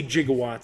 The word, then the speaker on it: gigawatt: his name is jiggawatt i say gigawatts because that's what uh professor emmett brown says in the movies but it's spelled gigawatt with a g it's like jiff versus gif you know what i